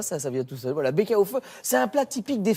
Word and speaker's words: Baeckeoffe: Alors c'est le Bäckerhofe. Bäckerhofe, c'est assez simple à prononcer. Bäckerhofe.